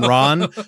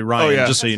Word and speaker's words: Ryan: fun of Dan and I was calling him Ron because of the way he said it but his name's actually Ryan Ryan it was the